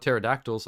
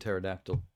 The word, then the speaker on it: pterodactyl: answer me this ter maybe it's the silent P there's something sexy about the silent p and pterodactyl or is that just